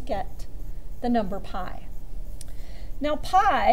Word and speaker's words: pi: the number pi now pie in the way you spell it is p I it's a Greek letter it's an irrational